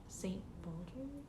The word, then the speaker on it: St. Baldrick's: Like in your Instagram bio, I saw that you have a link to St. Baldrick.